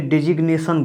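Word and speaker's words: designation: इसको देखिए डिजिग्नेशन बोला जाता है, ये जी आ रहा है।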